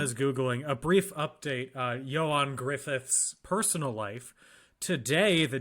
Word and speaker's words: Ioan: Ioan Gruffund. Oh, Johan. Not Johan, Ioan. Ioan. Y-O-A-N, yeah.